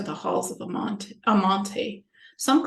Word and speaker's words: Amenti: halls of a Mont Amante some call it amenti some call it Amante it's the proper uh the proper way to say it cause